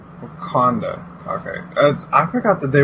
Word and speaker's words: Wakanda: It's like Wakanda? Wakanda.